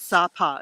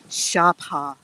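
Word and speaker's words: Sa Pa: in a town called uh we call it SAA it's spelled SAA but I've since learned that the Vietnamese pronunciation is Shara uh so uh we're in the very north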